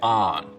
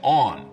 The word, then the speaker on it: on: Now, north of this line, most people say on, rhymes with don. South of it, they say on, rhymes with dawn.